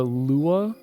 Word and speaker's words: Lua: about our scripting language it's always Lua it's never pronounced Lua so I wish more